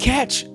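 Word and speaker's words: cache: instantly because they got something that's called catch data. It's spelled C A C H E Data, right?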